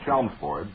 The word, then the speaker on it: Chelmsford: to inform you that the name Chelmsford is pronounced exactly as it is spelled. The L is not silent.